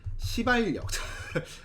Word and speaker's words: 시발역: 그래서 이렇게 선로 전환이 가서 여기서 다시 종착역이 이제 시발역 발음 조심하세요.